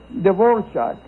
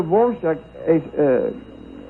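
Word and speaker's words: Dvořák: So yeah, well, apparently in Czech there's an accent mark or something that makes it called Dvorak. A mark on the R and a mark on the A. Yeah, and that's why it's pronounced the way it is.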